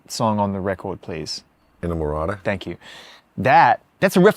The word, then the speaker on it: Inamorata: Please pronounce the last song on the record, please. Inamorata.